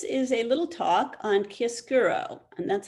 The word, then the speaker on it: chiaroscuro: hi everyone this is a little talk on kiss guro and that's how you pronounce it kia skuro so we are using kisguro the use of light and dark to establish